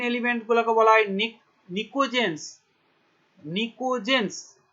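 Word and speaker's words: pnictogens: নিকোজেন্স, দেখো নিশ্চয় বানানটা বুঝতে, পি, নিকটোজেন্স বা বলে নিকোজেন্স।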